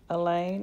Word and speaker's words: Elaine: he is that sleeping Elaine is a cross between Chewbacca from Star Wars and Lewis Lane who also rhymes with pain I try not to